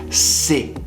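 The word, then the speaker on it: ces: have a common plural these which will be pronounced si and i could say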